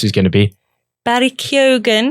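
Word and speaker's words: Keoghan: know what this is going to be Barry kyogen kyogen is which is how he pronounces it has been cast in the new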